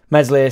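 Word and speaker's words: Meslier: what it's all about mesle silent s had a great game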